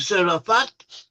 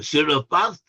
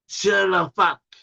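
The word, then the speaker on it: צרפת: The name for France in Hebrew is Tserefath, or Tserefath. It's sometimes spelled with a Z, Tserefath, but in Hebrew it has a TS sound, a tsa, Tserefath.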